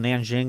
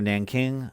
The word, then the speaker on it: Nanjing: cut the city is called Nanjing or Nanking I kind of is pronounced both ways so there's this Nanjing